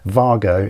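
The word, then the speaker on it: WAGO: type of connector called vargo it's spelled w-a-g-o it's a german company that makes these so what we have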